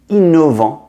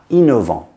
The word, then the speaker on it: innovant: Innovant, innovative, starts with an I, double N, and then a vowel. Innovant, but important.